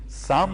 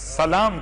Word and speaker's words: سلام: ہوں کہ یاد رکھیے، تلفظ کا خیال رکھیے، سام مت کہیے گا ورنہ بد دعا ہو جائے گی، بس سلام کہیے گا تاکہ دعا